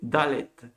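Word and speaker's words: דלת: Se prononce Dalet.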